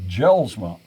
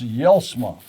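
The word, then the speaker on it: Jelsma: one problem it's not jell-sma it's yellsma and i says you've americanized it and the j is pronounced like a y and so i says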